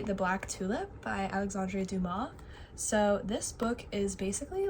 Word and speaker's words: Dumas: I realized after I read the Kamani Cristo that it's Duma, not Dumas.